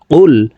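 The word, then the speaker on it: قُلْ: অনেকে এভাবে অশুদ্ধ পড়ি কুল ইয়া আইয়ুহাল কাফিরুন এভাবে অশুদ্ধ পড়লে হবে না এখানে কফকে জিহ্বার গোড়া তার বরাবর উপরের তালুর সঙ্গে লাগাইয়া উচ্চারণ করতে হবে লাম পেশ কুল এই কফজমালা লাম কে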